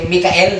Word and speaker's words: Michael: Ang pronunciate ay Mikael, di ba kapatid?